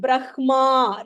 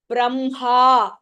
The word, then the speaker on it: Brahma: IM brah we don't call it we don't pronounce it Brahma right how do we write it b r a h m a but we we pronounce it Braha right even though we write it BR h